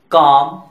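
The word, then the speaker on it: calm: Silent letter L, could, should, odd, काम, बाम, पाम, इन सारे words में एल लेटर साइलेंट है।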